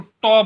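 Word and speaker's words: tau: डंडा कर्व्ड होता है, इसको टॉ बोलते हैं। टी ए यू बोलो या टी ए डब्ल्यू बोल दो, टॉ। ठीक है ना? इसकी प्रोनाउंसिएशन होती है टॉ।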